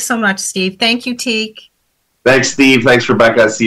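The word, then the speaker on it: Teague: It's Gaelic. It's for T-E-A-G-U-E, pronounced the same, teak.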